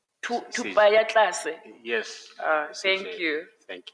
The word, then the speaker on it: Thupaatlase: I'm avoiding mispronouncing it. Thupaatlase. Thupaatlase. Yes. Thank CJ. you. Thank you. Thupaatlase.